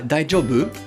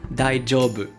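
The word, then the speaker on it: daijoubu: bien die du rebeu attention à la prononciation ce n'est pas un gie comme en français die job ou médaille job c'est comme si vous aviez un dea est un gie collés ensemble die jobs jobs on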